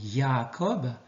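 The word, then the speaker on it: יעקב: Alors maintenant, nous allons rentrer dans l'étude du mot, du nom plutôt, de Jacob, qui en hébreu se dit pas Jacob mais Yaakov, et qui prend donc celui qui prend le talon, ou celui qui supplante.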